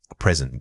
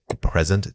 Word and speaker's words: present: The difference is where the emphasis falls. When you are talking about a gift, it usually has the stress on the first syllable. But when you refer to time, that stress shifts entirely to the second syllable.